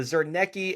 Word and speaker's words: Zarnecki: The Zernki incursion. There I pronounced it right this time.